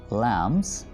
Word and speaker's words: lambs: The little lambs, यहाँ पर हम B pronounce नहीं करेंगे, ठीक है, ये B यहाँ पर silent है.